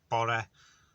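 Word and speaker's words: bore: day is borre um which i'm not gonna spell because if you read it in english you pronounce it wrong so it's bori which is morning so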